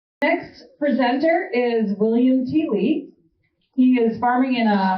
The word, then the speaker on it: Thiele: Please welcome William Thiele. Thanks, everybody. I had to inform Julia how to properly pronounce my last name because it's often mispronounced as Thiele or Thiel, but it's Thiele. Good German name for those of you who are wondering.